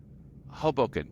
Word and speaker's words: Hoboken: Hoboken, yeah, Hoboken, emphasis on the first syllable.